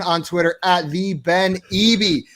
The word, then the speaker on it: Eby: Twitter at the Ben Eby. That is EBY, spelled and like that and pronounced like that. I nailed it, right, Ben? Yeah, you got it. Got it down flat. Not Eby. That is wrong.